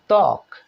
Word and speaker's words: ত্বক: ত্বক মানে চামড়া, দেখুন এখানেও ত্বয়ের সঙ্গে ত ব ফলা হয়েছে, কিন্তু এখানেও বন্ধুরা ব উচ্চারিত হলো না, ত্বক।